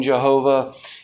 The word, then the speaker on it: Yahweh: Um, I don't have an issue with using Jehovah. If you ask me Stephven's preference, I think Yahweh is the better way to say it, but I don't have a problem with it.